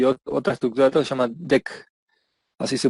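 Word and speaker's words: deque: Una de las cosas que menciona acá que tiene son arreglos, vectores, listas y otra estructura que se llama DEC. Así se pronuncia ese último que está ahí.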